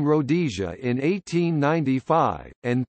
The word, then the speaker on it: Rhodesia: It is not clear why the name should have been pronounced with the emphasis on the second rather than the first syllable.